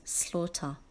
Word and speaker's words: slaughter: causing serious environmental impacts remember the silent G in slaughter the word slaughter also